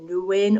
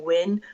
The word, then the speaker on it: Nguyen: You can pronounce it Nguyen or Win, but either way, it's a win-win situation.